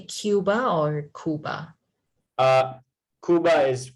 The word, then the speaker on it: Cuba: Cuba is correct. Cuba is the Spanish pronunciation. Okay. Spanish? English, we say Cuba. Like Cuba. but Spanish doesn't have that cube sound. They say cub.